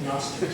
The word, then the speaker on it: Gnostics: It's spelled Gnostics, but it's pronounced Gnostics. Sound good? because in English, the G is silent.